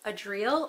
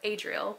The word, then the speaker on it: Adriel: It can either be pronounced Adriel or Adriel because usually in Spanish you'd say Adriel.